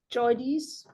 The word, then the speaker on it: JOIDES: Sailing as a microbiologist and geochemist on the first voyage of IODP's research vessel, the JOIDES, that's how you say it, Resolution.